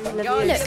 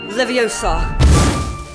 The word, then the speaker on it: Leviosa: Wingardium Leviosa. Look, stop, stop, stop! You're going to take someone's eye out. Besides, you're saying it wrong. It's leviOHsa, not leviOHsa.